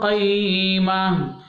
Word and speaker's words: قيمة: قيمة قيمة കണ്ടോ, ഒരു ഹ എന്ന ഉച്ചാരണമാണ് അവസാനത്തിൽ വരേണ്ടത്. ഓക്കെ, فيها كتب قيمة فيها كتب قيمة.